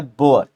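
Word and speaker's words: Beauvoir: तो सिमोन ई लिखना, द बोअर, बोअर को ऐसे पढ़ना होता है बोअर।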